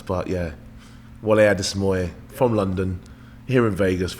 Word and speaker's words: Wole Adesemoye: How do you pronounce it? So it's Wole Adesemoye. Full name's Wole Adesemoye.